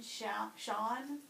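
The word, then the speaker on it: Chaon: And we read one for book club, and his name is Dan Sean. It's spelled C-H-A-O-N, but it's pronounced Sean.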